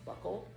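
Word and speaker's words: buccal: the lower eyes the it's pronounced buckled fat removed and i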